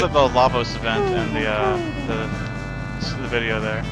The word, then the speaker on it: Lavos: I believe it's pronounced Lavos.